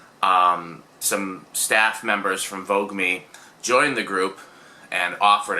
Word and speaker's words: Voogueme: two eyes um so it's meant to be vogue me i've been saying fugu me and stuff in all